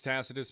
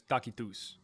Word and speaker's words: Tacitus: Uh tech technically in English generally it's Tacitus. But we'll say the way it was pronounced back then is Takitus.